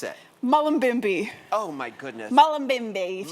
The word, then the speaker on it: Mullumbimby: Now tell everybody where you're from, where the town, because I can't pronounce it. Mullumbimby.